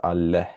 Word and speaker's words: አለህ: And this is አለህ. There's an H here actually, so keep that in mind. So do you have food would be ምግብ አለህ. Notice the h sound at the end.